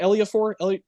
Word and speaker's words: Ejiofor: Ejiofor? Ejiofor.